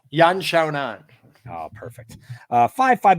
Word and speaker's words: Yan Xiaonan: name g you love saying her name yeah un shown on oh perfect uh five five minute rounds 115